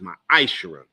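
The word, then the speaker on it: ma'aser: in Malachi 3 8-10 it means tenth in the Hebrew and it's pronounced my ishara a tenth of every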